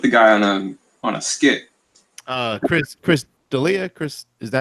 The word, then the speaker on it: Chris D'Elia: Chris D'Elia, Chris, is that how you pronounce Yeah.